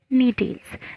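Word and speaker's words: Gnetales: कॉनिफेरल्स और कॉर्डियाटेल्स और नीटेल्स, जी साइलेंट है इसमें, तो इतने रखे गए।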